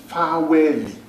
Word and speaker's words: faweli: In Yoruba, we call them faweli. What did I say? Faweli. Mi do do. Faweli. It starts with fi because there is no V in the Yoruba alphabet.